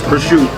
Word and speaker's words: prosciutto: Yes, it's spelled prosciutto, but they asked in Italian, it's prosciutto.